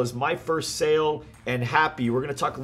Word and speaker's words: Hapbee: apex as well as my first sale and happy we're going to talk a little bit about